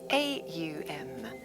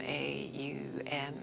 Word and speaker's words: Om: So if there are 3 syllables to the word Om, A-U-M, or Aum, there is a 4th part, and that is the 4th state of consciousness, stillness.